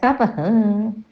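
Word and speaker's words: तपः: This tapaha, we can say the full word will be pronounced as tapaha, yajnaha, danam, that helping others also differ.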